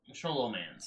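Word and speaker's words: Scholomance: The debut season theme is Wizard Duels, and the 10 heroes are pulled from the Sholomance. Is that how you say it? Sholomance? Sholomance.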